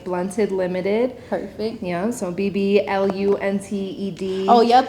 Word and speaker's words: BBLUNTED: She runs a business called BBLUNTED, but the B is silent. But the first B is silent.